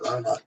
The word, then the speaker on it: Rama: Prabhupada said, chant Rama. Because that's, when you write it, that's how it is. It's Rama.